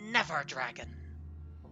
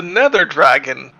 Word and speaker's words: Nether Dragon: of it called The Never dragon or no I'm saying it wrong the Never there oh that all sounds terrifying the Nether Dragon do we have never